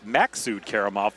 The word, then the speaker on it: Maksud Karimov: That's Maksud Karimov, I think, is how he told me. He was very, very particular about the pronunciation of his name.